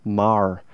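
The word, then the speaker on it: Maher: posted this guy named Sam Marr his last name is spelled mah er and he was busking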